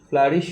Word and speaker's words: flourish: সভ্যতা যেটিকে আমরা বলি প্রাচীন মিশরীয় সভ্যতা, ফ্লারিশড অ্যাবাউট, এই যে FLOURISH, ফ্লারিশ উচ্চারণ হবে ফ্লারিশ। ফ্লারিশ মানে কোনো কিছু উন্নতি লাভ করা বা মাথা চাড়া দিয়ে ওঠা, ঠিক আছে?